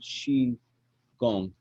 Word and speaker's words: Qigong: like kung fu but now they spell it with a q and the q sounds like sure so if you see q-i-g-o-n-g that's she gone um yeah if that